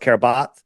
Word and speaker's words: Kiribati: Formerly, I used to call it Kiribati, but it's pronounced Kiribati.